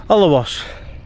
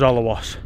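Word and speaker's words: Alrewas: And we're just leaving Olawas. I hope I pronounced that right because everybody pronounces it different, but as I understood it, it was Olawas.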